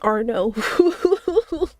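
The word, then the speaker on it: Arnaud: A name spelled A R N A U D is Arno.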